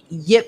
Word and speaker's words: Ip: No, I mean, Yip Man. They couldn't pronounce it, so they put it Ip Man. Right. Nah. Yip. Put a Y on it.